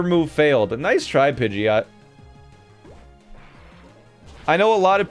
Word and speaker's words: Pidgeot: like that all right stop calling it that it's pidgeot you know it's after a pigeon right pidgeot pigeon pigeot pidgeot snowy thanks to the three